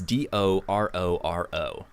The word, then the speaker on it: Dororo: stuff and so the the book is called der der or o believe that's how you pronounce it it's do ro ro and it follows these two characters one of